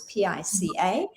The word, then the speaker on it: pica: into this thing called pica or pica depends where you're from and how you pronounce it it's pica and what that is